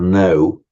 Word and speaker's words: know: um meaning to to know and you know as I've explained more than once cognate with know the German kenan and our word to cano we don't pronounce the k but we write it cognate with the Greek